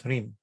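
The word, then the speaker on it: ह्रीं: The first sound of Hridaya is Hri, and therefore Hri with Chandra Bindu becomes Hrim.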